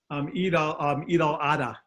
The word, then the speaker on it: Eid al-Adha: the other EID, I don't know how to pronounce that. Eid al-Adha.